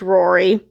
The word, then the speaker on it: Ruaridh: in vision and yes this is pronounced Rory I looked it up